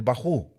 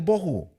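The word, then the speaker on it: בהו: del tojo es más oía un maestro que enseñaba la serpiente del taho y la serpiente del baju estaba mal pronunciado pero porque no habla abreo el hermano ni habla inglés entonces decía el tahu y el baju Pero tenía razón venía del tojo y del bojo del desorden y la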